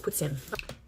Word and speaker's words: poutine: that's what I'm gonna do you enjoy your poutine ma'am it's not poutine people say that it's poutine French way is puts in there it is look I have confirmation by